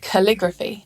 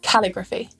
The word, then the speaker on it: calligraphy: are some rules, like if the suffix graphy comes at the end of a noun, the syllable before it is stressed. Photography, not photography. Cryptography, not cryptography. And calligraphy, not calligraphy. So there are some stress